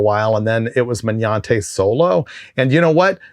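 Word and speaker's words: Magnante: It is M A G N A N T E Man Yante.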